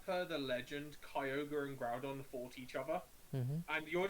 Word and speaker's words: Groudon: And yeah, I used to call Groudon Groundon because I couldn't I read.